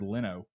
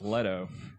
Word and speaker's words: Leto: I want to call him Jared Leno, but it's Leto. I thought it was Leto. See? Leto.